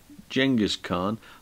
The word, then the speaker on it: Genghis Khan: picture is Genghis Khan spelled with a G pronounced J Genghis Khan I didn't know this